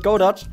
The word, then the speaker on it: Godot: I'm going to pronounce it Godot because their logo is a robot and they rhyme, and also because I've seen the developers and they pronounce it Godot. Oh, the developers pronounce it Godot. Woo, I pronounced it correctly. I've seen some people pronounce it Godot. Godot. Godot. With a silent T in the end.